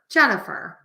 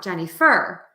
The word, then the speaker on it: Jennifer: beginning of the words it's like in my name Jen the fur Jennifer it's not Jenny fur Jennifer um and so when we